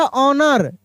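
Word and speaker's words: honour: यहां पे देखिए लिखा ऑनर एच ओ एन ओ यू आर। यहां पर भी एच जो है मेरे दोस्त साइलेंट है।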